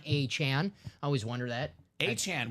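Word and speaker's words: Achane: way PR team for putting the pronunciations they tweeted at it's Devon achan I always wonder that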